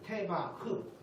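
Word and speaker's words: תבה: 테바흐. 흐자라 발음 잘 밖으로 흐 이렇게 나온 게 테바흐.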